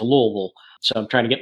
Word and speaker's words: Louisville: up in Louisville Kentucky for those in the north that's Lou vil I learned very quickly when I moved down here that you don't pronounce all the syllables within it and you just let it run together into Louisville so I'm trying to